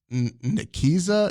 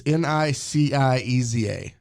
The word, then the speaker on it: Nicieza: written by Fabian, and I'm going to mispronounce his last name. I'm just saying that right now, and I apologize. Nikiza. It's Nicieza. Okay.